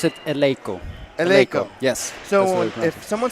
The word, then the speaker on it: Eleiko: me the proper pronunciation of that word we pronounce it eloo yes so if someone says AO or Leo can I smack them I wouldn't smack them